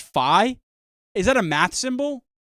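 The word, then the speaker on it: phi: members are growing dude it's pronounced fi is that a math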